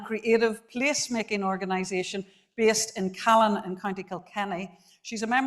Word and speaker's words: Cualann: He's the co-founder and CEO of, how do you say that, Cualann? Well done, spot on. Cualann, which is an approved housing body delivering affordable housing here in Ireland.